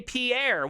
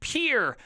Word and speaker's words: Pierre: oh you would say Pierre well guess what you dumbass that's not how you say it at all it's pronounced pure like p-u-r-e everybody around here calls